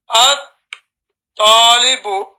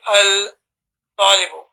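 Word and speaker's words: الطالب: At-talibu. At-talibu. No need to say al-talibu.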